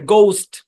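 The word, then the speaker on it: ghost: এইচ টা silent করে না আগে উচ্চারণ হচ্ছে ঘোস্ট কি উচ্চারণ অনেকে এটাকে ঘোস্ট বলে ঘোস্ট ভূত ভূত ভূতের ইংরেজি হচ্ছে ঘোস্ট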